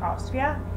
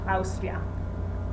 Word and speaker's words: Austria: have trouble with is the diphthong AU, like Austria. As you can see, Austria, the country Austria, is pronounced Austria. And the basic sound of its vowels doesn't change, Austria. Americans, English speakers say Austria, but not Italians.